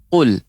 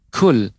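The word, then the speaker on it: قل: Jadi pengucapan yang tepat adalah qul, qul. Adapun yang keliru kul, kul, kul, mengalirkannya udara. Ini kurang tepat. Ya, keliru.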